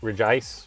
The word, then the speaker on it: Regice: I will say we do know that Reggie Reggie ice and that may not be how you say it maybe reject regice but we're gonna call me Reggie ice and